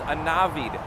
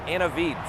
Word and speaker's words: Anavid: And oh, by the way, just real quick, my name is pronounced Anavid, not Anavid.